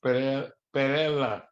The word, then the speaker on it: Pereda: My parents are the male, V is in Victory, Pereda, Pereda. It's actually pronounced Perela.